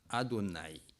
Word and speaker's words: Adonai: Les Hébreux trouvent que ce mot est privé et sans voyelle, il est sans voyelle, donc il prononce en Adonai.